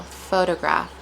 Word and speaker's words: photograph: So instead of saying photograph, we say photo photograph photograph photograph. And notice the stress on each symbol or syllable. Photograph photograph.